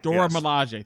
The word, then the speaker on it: Dora Milaje: Dora Milaje.